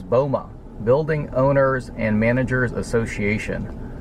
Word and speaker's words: BOMA: B O M A. So you pronounce that as Bulma, building owners and managers association.